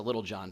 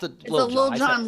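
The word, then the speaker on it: Lil Jon: It's a Little John, but no, it's Lil John.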